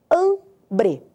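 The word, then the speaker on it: hambre: É o água vou te dar outra palavra ambre ambre é fome an e isso muito bem an é a sílaba tônica el ambre outra palavra a da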